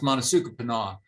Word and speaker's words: Monasukapanough: It's not easy to pronounce the way it's spelled, but that's typically pronounced Monasukapanough.